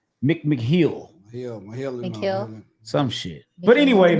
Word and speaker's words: McMahill: That's McMahon.